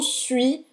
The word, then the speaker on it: suis: E também o suis, je suis, também tem esse mesmo biquinho, como Emile falou.